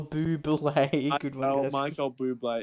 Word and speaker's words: Bublé: Bublé.